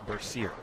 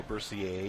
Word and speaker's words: Bercier: Valerie, how do you pronounce her last name? Bercier. Bercier. All right. That could be a tough one. Yeah, I could go Bercier if it's French.